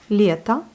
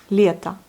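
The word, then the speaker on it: лето: Par exemple, lieta, été, lieta. Voyez, on écrit le O, mais on prononce le A.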